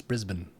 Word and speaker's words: Brisbane: But apparently that is the most incorrect pronunciation. Yeah. Melbourne? No, it's Melbourne. Brisbane? No, it's Brisbane.